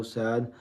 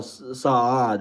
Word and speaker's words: Saad: A perfect pronunciation, like if you do the a, like if you do the a longer, so no sad, but oh Saad, right?